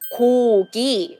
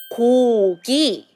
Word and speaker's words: 고기: So you can see two syllables has 그 sound together. So 그, 오, 고, 고. And the next syllable is 그, 이, 기, 기, 고기, 고기.